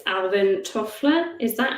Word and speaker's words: Toffler: And I think it's Alvin Toffler. Is that how you pronounce his name?